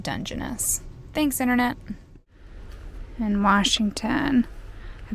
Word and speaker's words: Dungeness: stayed here last night again tonight we're at Dungeness I think I'm saying that right nope that's wrong it's pronounced Dungeness thanks internet in Washington a bit West of